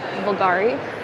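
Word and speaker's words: Bvlgari: I believe the V is silent. It's like vulgar, but it's supposed to be like Bulgari.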